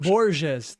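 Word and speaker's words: Borges: There was some inspiration from Boures short story collection. Boures, that's how you say it.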